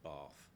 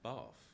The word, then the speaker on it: Bath: But also, people do say Bath down in that part of the country, in the west of England, where Bath is, or Bath is.